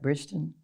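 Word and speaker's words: Bridgerton: Bridgeton.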